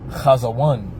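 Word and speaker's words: חזון: All right, so that word in the Hebrew is pronounced kazawan for vision.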